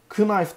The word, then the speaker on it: knife: Knife demiyoruz buna. Knife diyoruz. K'yi buraya yazmışlar ama okumuyorlar. Aynı şekilde burada çarşamba günü.